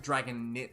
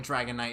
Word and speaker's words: Dragonite: So usually like you know how dragon knight the I is pronounced I like it's not dragon nit like it's this why this is why I'm a stem major because I can't describe English to save my life. My point meaning the way that the I is pronounced I in Dragonite is because there's like an e at the very end of it.